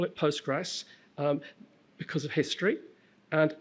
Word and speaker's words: Postgres: Um, it's pronounced Postgress SQL which I find, but you're allowed to call it Postgress um because of history and it derives from going back to the 80s.